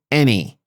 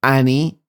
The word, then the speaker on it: any: any attention any attention look the pronunciation is any pay her any attention not Ani or Annie it's any attention and the word is